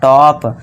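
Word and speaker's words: top: जब दो कोसोनेंट के बीच में ओ आए तो ओ को औ से पढ़ें। अब दो कंसोसेंट के बीच में ओ आ गया तो इसे क्या पढ़ना है? टॉप।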